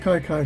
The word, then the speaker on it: Kiki: in the ninth inning kiki kyler is today's star of the game all right it should be pronounced kai kai kyler the reason that he